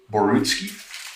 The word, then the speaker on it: Borutski: the interrogator now am i pronouncing your last name correctly is it borunski yeah okay um thanks very much